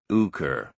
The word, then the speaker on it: Hooker: by name Mr Brooker had a queer way of pronouncing his name without the H and with a long u uker what Tales I heard